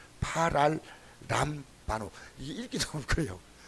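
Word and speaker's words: παραλαμβάνω: 그러니까 그 원어의 발음 뭐냐면 파랄람바노. 말이 좀 복잡합니다. 파랄람바노.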